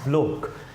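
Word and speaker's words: Bloch: Felix ब्लोक, इसको गलत pronounce नहीं करना, दैट वर्ड इज़ ब्लोक।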